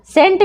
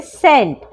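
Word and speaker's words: scent: ठीक है जैसे सेंट सेंट में भी क्या है सी एस के बाद आया है तो सी हो जाएगा साइलेंट तो पढ़ेंगे सेंट कॉन्शियस यहां पर भी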